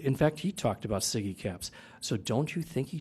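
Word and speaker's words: SIGECAPS: Hale laughed at me when I said side caps well I apologize you ladies and gentlemen I miss I mispronounced Siggy caps but I knew what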